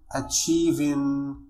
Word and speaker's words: achieving: فطريقة النطق هي فنقول achieving وليس achieving.